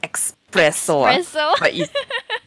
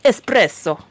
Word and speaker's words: espresso: way to go and yes espresso not it's not it's not spelled with uh the eggs are not eat expresso it's say it with the more Italian accent espresso so espresso um it's